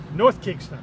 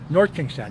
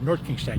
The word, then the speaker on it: North Kingstown: North Kingston. North Kingstown. You got to say it right. North Kingstown.